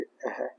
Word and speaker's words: अः: विसर्ग का उच्चारण स्थान कंठ है जैसे अः ये है अ ठीक है? ये है अंग। तो इसको क्या बोलेंगे? अंग। अंग नहीं बोलेंगे। अंग इसको अ ये अः बोलेंगे।